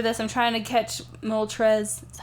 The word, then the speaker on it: Moltres: I'm trying to catch Moltres.